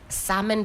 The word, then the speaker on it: salmon: Salmon. Pink. Never debate with You know how we say salmon. The British will say salmon. You don't pronounce the L.